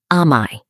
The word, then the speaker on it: amae: The hidden rule, amae. There is a Japanese word that has no direct translation in English. The word is amae. It's pronounced a-ma-e.